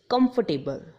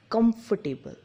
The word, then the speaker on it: comfortable: But its actual pronunciation is comfortable, which the meaning of this word is aramdayak. It's pronounced as comfortable, not comfortable.